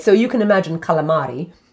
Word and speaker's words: calamari: so you can imagine calamari i'm saying it in italian in calamari like right the little